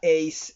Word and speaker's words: Ace: Lala est le diminutif de son prénom ivoirien Laoré et Ace, prononcé Ace comme le point gagnant au tennis, ok.